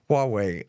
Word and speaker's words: Huawei: say it the uh Chinese Telephone Company there Huawei okay well you say it more Huawei um so America's been waging an economic war